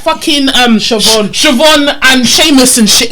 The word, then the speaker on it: Seamus: Have you seen the way Seamus is spelt? It doesn't make sense. It does not say know. Seamus. It's in their Seamus. language. It's Seamus. Seamus. That's how it's pronounced.